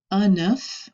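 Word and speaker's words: un œuf: I mentioned this before enough we actually pronounce the F at the end of that word these we do the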